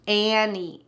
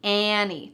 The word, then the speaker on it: ante: That T is really just cut out. Annie, Annie.